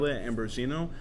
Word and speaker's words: Ambrosino: So my name is pronounced, even all my friends never really say it right, but it's Ambrosino. It's spelled M-I-C-H-E-L-E like Michael.